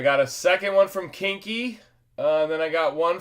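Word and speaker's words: Koenke: Kinky. Yeah, it's spelled uh totally different, but he told me that that's how it's pronounced. Uh K O E N K E. Kinky.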